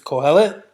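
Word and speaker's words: קהלת: I know in Hebrew it's Kohelet. That's how it's pronounced.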